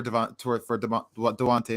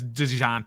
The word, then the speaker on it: Dejounte: We would have to give up more than KCP and Ish Smith for Devontae Murray, however you say his name. Why? So that J messes me up. It's Why? It's DeJounte.